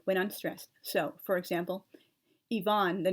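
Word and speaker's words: Ivan: a long a when unstressed so for example Yvonne the name on i-v-a-n is Yvonne and Paris b-o-r-i-s is Paris G is always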